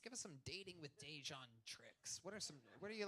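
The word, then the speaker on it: Dejuan: And he's like, Hey, bitch, you be blacking on my name. Hey, you know what's crazy? Somebody mispronounced my name while I was hitting it, too. Oh, yeah. She said it just the way you said it, nigga. Yeah? What did she yell? Beetlejuice? Yeah. Yeah. She was like, ooh, Dejan. And I was like, You're like, it's Dejan. Yeah. It's Dejan, bitch. It's Dejan. Spell it.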